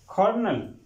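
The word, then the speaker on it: colonel: किसी जगह पे किसी कंपनी में टशन टशन कर्नल कर्नल flower flower table table ककं ककं thank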